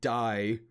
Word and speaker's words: die: spy it's funny because die d-i-e is also a word in german it's just pronounced d so essentially they said